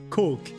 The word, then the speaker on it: coke: The O in cork is pronounced like O in oats. Coke.